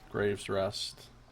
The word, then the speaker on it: Gref's Rest: Grave's Rest. I guess the F is pronounced like V. And that E is pronounced like an A.